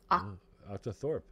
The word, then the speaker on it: octothorpe: Is it octo or octa? Octo. O-C-T-O. Octo. T-H-O-R. Thor. P-E. Octothorpe.